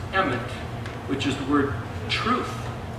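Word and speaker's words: אמת: Well, the word Aleph, Mem, Tav is pronounced Emet, which is the word truth.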